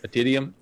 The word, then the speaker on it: Atidium: the project are we are we pronouncing it correctly at idiom IP diem yeah at idiom okay it's cool yeah